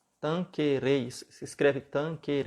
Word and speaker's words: Tanquerey: o compêndio de teologia ascética e mística do tanque rede tanquerey se escreve tanker e mas o nome do livro